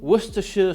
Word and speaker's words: Worcestershire: Followed up with apple cider vinegar, lemon juice, black pepper, Worcestershire sauce, that's how you say it.